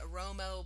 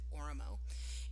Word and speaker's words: Oromo: I've heard people say Oromo, but I think I've heard Ethiopians actually use they pronounce it Oromo.